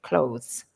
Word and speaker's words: clothes: suggest you practice that what I think the difficulty is is when you're making the sound you have to put your tongue between your teeth your tongue goes out